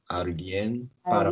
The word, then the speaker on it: alguien: The pronunciation here it changes a little bit when it's a G and U together. It's gui, no gui. Alguien. Alguien para practicar inglés.